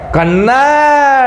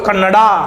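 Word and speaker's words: Kannada: कन्नड़ डी ए बोल कन्नडा लेकिन कन्नड़ है कन्नड़ है कन्नडा नहीं पढ़ते इसे कन्नड़ ठीक है तो डी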